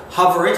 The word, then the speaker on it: HOVR.IT: explanation it is so for those who don't know hover it and it's spelled h oov r doit uh allows people